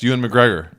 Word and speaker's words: Ewan McGregor: Ewan McGregor. Is that your final answer? Yeah, that's how you say his name, right? Yes, Ewan McGregor.